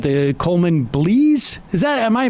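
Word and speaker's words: Coleman Blease: you would argue, but you definitely said the Coleman Blees. Am I pronouncing his name correctly? Right, I think that's right. Coleman Blees, yeah, which was the first.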